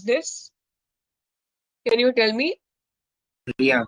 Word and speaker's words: rien: So in the same way, how am I going to pronounce this? Can you tell me? Rien. Rien.